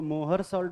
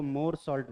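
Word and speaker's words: Mohr's salt: कुछ लोग इसको मोहर सॉल्ट बोलते हैं, मोहर सॉल्ट भी नहीं है, एच साइलेंट है यहाँ पे, है ना, इसको मोर सॉल्ट बोलते हैं।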